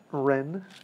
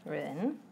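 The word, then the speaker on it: 壬: How do you pronounce it? Ren. Ren. Oh, yeah. It's Ren, and then the yin water is the hardest character.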